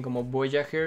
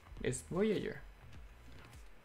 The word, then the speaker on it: Voyager: más fuera de escala te cuesta pronunciar la palabra Voyager noy dice Voyager si dicen como Voyager está mal pronunciado es Voyager el bumble B bl